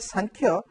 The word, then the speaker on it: Samkhya: When I said Samkhya, you can mark that Sa.